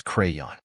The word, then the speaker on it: crayon: it is spelled as c y the correct pronunciation of this word is crayon crayon means a stick of colored wax charcoal